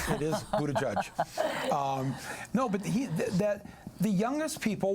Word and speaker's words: Buttigieg: Yes, I'm not trying to avoid trying to pronounce the name. It is Buttigieg.